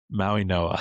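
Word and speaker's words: Mauigoa: It's pronounced with an N instead of a G.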